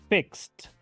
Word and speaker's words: fixed: fixed escuchen de nuevo especialmente pongan atención en Cómo pronuncio la e de del final fixed la pronuncio como una letra T veamos otro ejemplo más